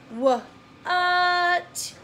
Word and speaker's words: what: word says what uh what what so it sounds like this is how it should be spelled whoa but that's not how we say it spell it what what